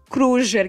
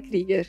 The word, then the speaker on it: Krüger: É Kruger que se escreve, mas fala Krieger. Krieger. Krieger.